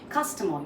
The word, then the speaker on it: customer: Even if you say customer, you just stress on the first part. Customer, your toy is okay, your car is okay, your first, you're stressing on the first part, you're saying it correctly.